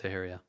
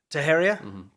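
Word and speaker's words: Teixeira: up big time this guy um taheria is pronounced taheria taheria okay well now we know are you sure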